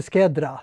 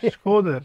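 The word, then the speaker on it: Shkodër: Och speciellt den staden som där de har sin församling, Hope Skedra. Nej. Skåder. Skåder.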